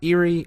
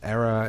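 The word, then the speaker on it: Éire: thing is it era Erie I've heard pronounced both ways but it actually is just the battle for Ireland oh okay so I I think the the official um pronunciation is era and it's like I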